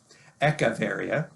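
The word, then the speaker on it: Echeveria: get things changed and moved and people don't spell it right and it sometimes that that sticks anyways eavara is the way you would normally say it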